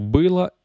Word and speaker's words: было: Il y a juste une petite chose que j'aimerais corriger qui est ici, l'accent tonique sur было, il n'est pas sur le O, mais sur le I.